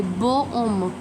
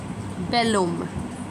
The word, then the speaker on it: bel homme: Like if I want to say a handsome man I cannot say beau homme beau homme. So there are a lot of vowels coming in between and H is silent so we will use b e l bel.